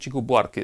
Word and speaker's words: Chico Buarque: I think Chico Buarque is the correct pronunciation.